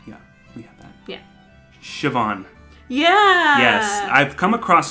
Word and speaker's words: Siobhan: and i learned then that it was not ceo bond uh it's siobhan which is pretty that's